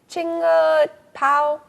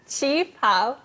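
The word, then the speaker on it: qipao: How do you say that word again? Chinga pao? Chi pao. A chi pao is a traditional Chinese dress.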